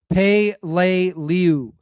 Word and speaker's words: Peleliu: All right, so it is pronounced Pay-lay-lew.